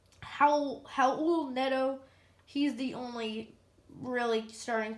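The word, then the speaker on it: Raul Neto: now it is just rilenetto or excuse me i keep saying it wrong it's how how old nedo he's the only really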